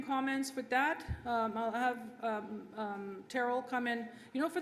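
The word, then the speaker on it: Terryl: leave my opening comments with that i'll have terrell come in you know for the first time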